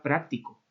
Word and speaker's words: práctico: refiriendo a la palabra práctico entonces lleva tien la a porque esto es una palabra esdrújula verdad siempre llevan tilde lleva tilde porque es es drujula no fijaos que aquí